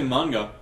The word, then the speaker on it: manga: I don't say manga. Yeah. I say manga. Yeah. Yeah. If anyone ever says, "How do you say manga?" Say, "How do you say man?" Man. Now say ga. Now say it together.